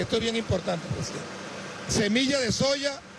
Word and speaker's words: soja: soja como le dije en otros lugares se escribe soja y se pronuncia soya para producir semillas de